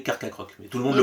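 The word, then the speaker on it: Carchacrok: tout et c'est tout est-ce que vous saviez que ce n'était pas sa vraie prononciation parce que tout le monde le prononce mal c'est pas comme ça qu'on est censé le prononcer et oui puisque et oui il s'inspire du Carcharodon qui est donc l'ancien requin de l'époque et donc c'est censé s'appeler Carca croc mais tout le monde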